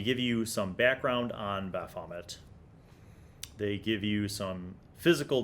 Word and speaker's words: Baphomet: So I have Baphomet. Not Bahamut. That's a very different thing. Baphomet. Baphomet. I will learn how to pronounce this.